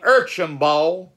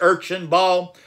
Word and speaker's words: Archibald: As you would see, the name Archibald, and it is pronounced several ways, Archibald, Archibald, and you would even see it with an H, Archibald, and I'm going